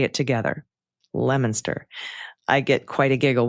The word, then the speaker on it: Leominster: Leominster. I get quite a giggle when people try to pronounce towns like Haverhill, Leominster, Worcester.